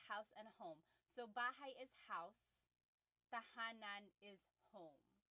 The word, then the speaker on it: bahay: So, house in Tagalog is bahay.